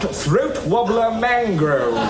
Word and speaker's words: Raymond Luxury Yacht: No, it's spelt Raymond Luxury Yacht, but it's pronounced Throat Wobbler Mangrove.